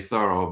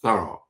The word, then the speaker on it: Thoreau: And also, he liked the French pronunciation of his last name, which most people say Thoreau, but it's Thoreau. Thorough like thoroughly, thoroughly, or thorough job, or thorough, and as opposed to Henry David Thoreau.